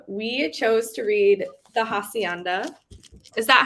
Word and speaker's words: hacienda: chose to read the hacienda is that how you properly say it it's like my name the h in spanish is silent so is the hacienda i'm sorry i'm like